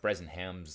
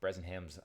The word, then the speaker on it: Bresenham: And I think it is important, especially because these algorithms that are used, things like Brezzenham's line algorithm, it's a classic, Brezzenham's line algorithm. I always get the pronunciation, I think, correct, but the spelling, half the time I get wrong.